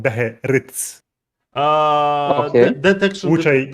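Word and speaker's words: Beherits: it made me think about how uh, that Beherids, as they are now called, and I always call them Behelit. Behelits, Yeah. but they're actually called Beherids, Okay.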